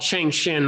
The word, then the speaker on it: Cheng Hsin: what that's random and it's spelled funny so like china trying to say that based on the spelling it looks like his sin and it's like you